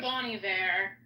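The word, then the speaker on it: Bon Iver: his name is Bonnie Var yeah it throws me off because it's spelled like Bonner she had him come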